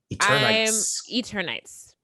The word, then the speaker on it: Eternights: Is that how you pronounce it? That game looks cool. Eternights.